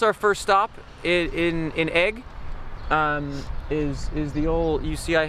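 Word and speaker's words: Aigle: it's spelled igil it's which is pronounced egg what she's allergic to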